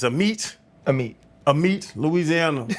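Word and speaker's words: Amite: I was going to say a mite. It's a meat.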